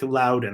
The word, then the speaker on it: Loudon: Loudon, Loudon. That's how you pronounce it.